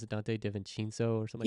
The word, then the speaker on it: DiVincenzo: How do Yeah, you pronounce it? Dante DiVincenzo or something. DiVincenzo.